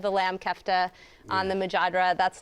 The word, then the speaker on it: mujadra: We absolutely loved the chicken majadera. It was basically grilled chicken tenders atop a bowl of fried lentil rice with fried onions and pine nuts. The mujadra. It's pronounced mujadra.